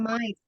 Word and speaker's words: might: bacanya Mike. might.